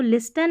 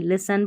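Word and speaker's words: listen: इसको लिसन नहीं लिसन पढ़ते हैं। टी साइलेंट है।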